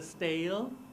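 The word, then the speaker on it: Stijl: knows how to PR they pronounce somehow like the style the stale the stale it means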